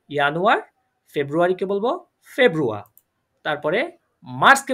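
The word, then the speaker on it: Januar: ইয়ানুয়ার।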